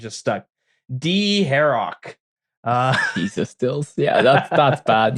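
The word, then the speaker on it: Dharok: I had a friend, and that's how he pronounced it. And I played RuneScape with a lot growing up, and some of these names just stuck. D-Harrock.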